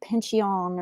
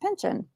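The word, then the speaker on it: Pyncheon: pronounce that last name i was going to say pincheon or something but from everything i could find it's pronounced pension so i'm not wrong you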